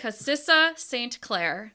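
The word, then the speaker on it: Kassia St Clair: Cassissa St. Clair.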